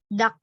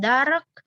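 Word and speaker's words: 닭: konsonan akhir, jadi bacim, dia dibaca sebagai dak. Jadi R-nya nggak dibaca. R-nya hilang. Kalau dia di akhir kata. Dak. Bacanya bukan dark, tapi D-A-G-nya langsung dak.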